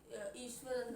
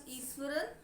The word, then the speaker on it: Iswaran: And as all of you know that the name of the chapter is Ishwaran the Storyteller. Some people pronounce it as Ishwaran, which is also acceptable.